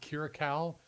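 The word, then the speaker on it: Kiriakou: John, I believe it's John Kiraau is the pronunciation of his name.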